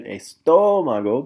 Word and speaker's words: estómago: Here we are pointing to her chest, el pecho, down here, her stomach, el estómago. Be careful there, there's an accent on the O, so estómago.